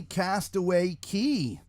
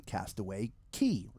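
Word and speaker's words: Castaway Cay: of them constructed on Castaway K. Castaway K depending on how you want to pronounce it. I do believe it is called Castaway K.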